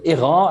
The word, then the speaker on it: Airain: you would yeah sure sure um yeah so ira as it is officially pronounced but it's also often pronounced as i